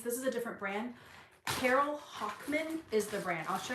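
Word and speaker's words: Carol Hochman: is the name I think it's called It's pronounced Carol Hockman Carol with an e h o c h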